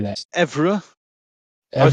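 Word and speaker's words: Évreux: Evreux, I would say Evra Evreux.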